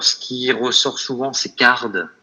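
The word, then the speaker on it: Carrd: Alors, ce qui ressort souvent, c'est Card. Donc, Card, ça s'écrit C2R3.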